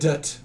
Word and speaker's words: Gadot: Gadot. That's how it's pronounced. Is it really? Yeah. Yeah. She anybody literally actually told Kimmel. Pronounce the T. She told Kimmel. It's Okay. Gadot.